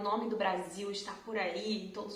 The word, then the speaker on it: Brasil: Toda letra S entre 2 vogais vai fazer um som de Z, Z, ok?